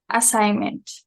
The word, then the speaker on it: assignment: with the homework segment assignment assignment yeah the g is silent um gave no no